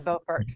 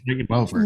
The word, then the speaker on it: Beaufort: Don't get it confused with, I guess, North Carolina, Buford, or oh, please don't. That's Beaufort. Beaufort, right? So that's a big difference. Spelled the same, but said differently.